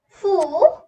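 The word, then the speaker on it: ふ: Ha, he, fu, he, and ho. There's an exception in this line, which is fu.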